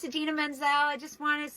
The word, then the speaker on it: Idina Menzel: Idina Menzel.